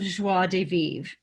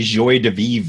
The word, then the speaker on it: joie de vivre: of joie de vivre i'm sure i'm not pronouncing that right but i'm trying no you nailed it really we used to say joy de vivre yeah we got corrected on that one yeah people were like